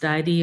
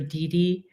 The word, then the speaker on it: DiDi: Use Uber, or I don't know if it's pronounced Didi or Didi.